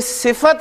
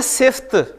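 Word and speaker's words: صفت: तो कोई सिफत जो है, आप देखें हम बोलते हैं इसे उर्दू में बोलते हैं सिफ्त, लेकिन इसकी प्रोनाउंसिएशन जो है अरबी में वो है सिफत। सिफत यानी फा पे जबर बोलनी है।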